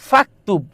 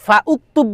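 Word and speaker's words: فاكتب: যেমন আমি যদি বলি উততুবকে যদি বলি ফাকতুব ফাকতুব। তখন ফাকতুব তখন দেখো এই ফাউকতুব বলি ফাউকতুব বলি কখনো না ফাকতুব বলি ফাকতুব ফাকতুব ফাকতুব এসে সরাসরি কাফকে ধরতেছে মাঝখানে যে আলিফ এটা কি উচ্চারণে আসতেছে উচ্চারণে আসতেছে না তাহলে যেই আলিফ অর্থাৎ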